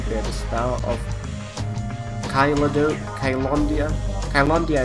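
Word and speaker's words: Caelondia: Kylondia, I think it's the pronunciation they have in the game for this. I've already forgotten it. It is not, as I wanted it to be the first time I played with Caledonia.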